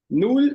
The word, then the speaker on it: Null: Null, gente, esse L com a língua no céu da boca.